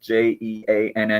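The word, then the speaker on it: Jeanne: And her name was actually spelled J E A N E, but we pronounce like Jean.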